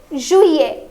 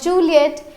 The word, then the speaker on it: juillet: It is juillet and not Juliet. It's juillet. Juillet.